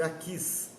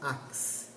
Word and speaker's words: Aquis: Eu penso que a pronúncia certa deve ser Aquis, não Ax. Aquis, rei de Gate.